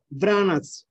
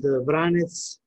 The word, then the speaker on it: Vranec: we're going with the vranets as a grape variety the name vranas as pronounced in montenegro serbia bosnia herzegovina croatia and vranets we said in north macedonia there's also because branch